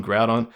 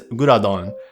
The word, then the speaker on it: Groudon: every single time and i like gurudon's japanese name because it helps me uh sort of understand how to say it in english grid on groudon uh in japanese it's guradon um half of this name is like english and the other half is japanese the english half is probably a good aspect um ground it's like a lasaga way of